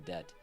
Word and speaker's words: debt: Looks like thou art in debt, and I just pronounced the B in debt.